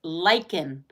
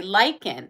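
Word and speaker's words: lichen: that grows on trees it's pronounced lyen okay lyen it is a fungus well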